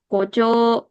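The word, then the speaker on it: 校長: Koco kocositse ini. O-nya dibaca agak panjang ya.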